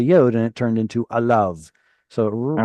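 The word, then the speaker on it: עָלָיו: Anytime you have a yod vav at the end of the word, you can pretty much guarantee that we're going to ignore the yod. It's alav.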